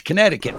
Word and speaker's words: Connecticut: Our I had an English teacher in fourth grade that made me pronounce that second C in Connecticut. Connecticut. I'm like, "No one says it that way. It's Connecticut for everybody else."